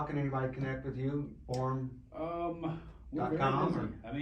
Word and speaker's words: Borem: It rhymes with forum, but it's spelled with an E, Borem.